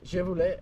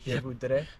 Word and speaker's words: je voudrais: Je voulais, I finally found out after 2 days, it's je voudrais.